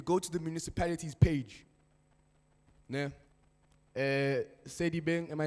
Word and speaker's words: Sedibeng: So, if you go onto Google and you go to the municipalities page, Sedibeng, am I saying it correctly? Sedibeng? Yeah? Sedibeng.